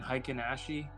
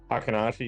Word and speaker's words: Heikin-Ashi: I would speculate it's similar to how, I don't even know how to pronounce it. What's the Japanese bar again? Heikin-Ashi? Hakanashi, yeah. Hakanashi.